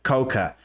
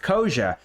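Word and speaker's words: Koca: In the past, I used to call Koja Coca. And then somebody corrected my pronunciation, probably a Turkish person, and told me it's pronounced Koja.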